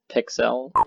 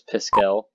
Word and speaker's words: Piskel: I always pronounced it Pixel. It's spelled with a K and an S. So I always thought it was just it was a hipster spelling of pixel, but it's Piskel.